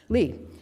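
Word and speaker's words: Leaphe: Lee? Oh, because it's L-E-A-P-H-E. Lee.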